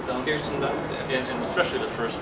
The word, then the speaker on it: Kirsten Dunst: Kirsten Dunst.